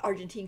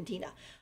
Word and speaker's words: Argenti: so basically Argent uh I keep calling him Argentine CU I keep thinking Argent artina uh but his name is arti that's how you say it arti cuz he's apparently Italian but he's arti and